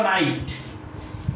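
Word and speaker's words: knight: Next लिखा हुआ देखो बच्चों, के नाइट मत पढ़ना चाहिए, ये लिखा हुआ नाइट, लेकिन के साइलेंट है यहाँ पे।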